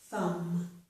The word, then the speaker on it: thumb: And we do not pronounce the B in this word, so this is thumb.